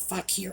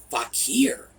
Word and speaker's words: fakir: Well, despite the fact that I was very careful with the pronunciation of fakir, and I even spelled it out, YouTube's bots decided it rhymed with trucker.